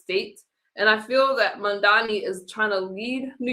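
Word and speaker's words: Mamdani: Mandani.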